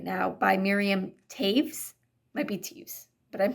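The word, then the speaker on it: Toews: Anyway, I'm not super far into Women Talking right now by Miriam Taves. Might be Teves, but I'm pretty sure it was pronounced Taves, and I had no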